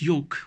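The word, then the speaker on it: yolk: taken with milk yeah and her what is yoke y ou LK yoke yoke is the yellow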